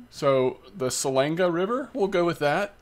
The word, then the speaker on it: Selenge: I'm going to get a little help here on pronouncing the name of this river. Selenge. So the Selenge River, we'll go with that.